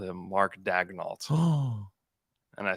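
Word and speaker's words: Daigneault: I said it's Dagnalt, and he was like, "What? What?" I was like, "Yeah." I was like, "That's what you're falling for the broadcast. The broadcast is saying it wrong."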